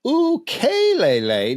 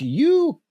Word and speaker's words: ukulele: Incidentally, the name of the most popular Hawaiian instrument is ukulele, not ukulele, as often is mispronounced.